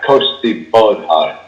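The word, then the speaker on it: Cóiste Bodhar: It says here, Costi Bodhar, apparently is how it's pronounced.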